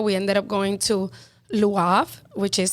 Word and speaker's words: Le Havre: We ended up going to Le Havre, which is spelled Lehavre.